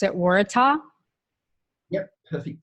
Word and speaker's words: Waratah: flower behind you which is that would you pronounce it Waratah yeah perfect pronunciation and it's actually the the